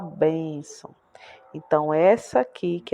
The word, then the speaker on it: bênção: Mas quando a gente vai pronunciar a palavra bênção, nós fazemos um pouco mais de força para falar bênção.